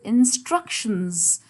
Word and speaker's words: instructions: So stress is going to be on second syllable. Instructions.